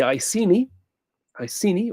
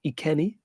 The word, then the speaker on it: Iceni: Boudica was queen of the Iceni or Ikeni. Question 33. Nihon is one of the pronunciations of the Japanese word for Japan.